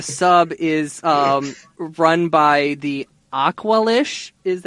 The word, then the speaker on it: Aqualish: As he's walking, so this whole meatpacking plant, or the sub, is run by the Aqualish, is how you say yeah.